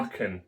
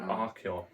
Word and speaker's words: Archon: Archon, not Archeon.